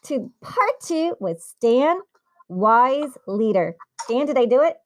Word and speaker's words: Weisleder: for coming back to part two with Stan wise leader Stan did I do it did I say it right Dan yeah perfect perfect yeah so everyone probably knows by now so it's Stan wise leader I'm so excited to say it right because